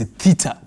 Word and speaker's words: theta: We read this as theta.